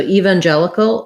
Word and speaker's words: evangelical: Evangel, this letter G says the J sound, so like a J. Evangel. There's my letter E that says the red tent vowel. Jellical. And then we have then we have a syllabic L at the end. So not cal, no a there, just going right from the K to the L, maybe a tiny little schwa in between. So evangelical or evangelical still has the same stress pattern.